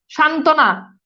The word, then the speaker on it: সান্ত্বনা: সান্ত্বনা, এই যে দেখেন বফালা এখানে যুক্ত আছে কিন্তু আরেকটা যুক্ত ব্যঞ্জনের সাথে যুক্ত আছে বিধায় এটার উচ্চারণ নাই।